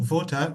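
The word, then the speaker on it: Wolter: Uh sorry, you know, uh this Yeah, I think voter because um I don't think if is an English name and somewhere here in Poland for instance, this W is pronounced as V.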